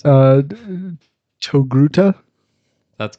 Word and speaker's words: Togruta: point for it i don't know how to pronounce it uh togruta that's correct yeah i yep well i did